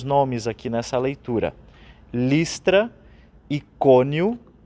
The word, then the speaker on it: Icônio: Listra, Icônio, com um acento no primeiro O, Antioquia, depois aparecem mais alguns nomes.